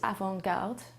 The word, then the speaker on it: avant-garde: so the word is avangard and it's spelled a v a n t g a r d e well the term avangard